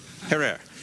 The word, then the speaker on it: Herer: Have I pronounced it correctly, Jack? Herer.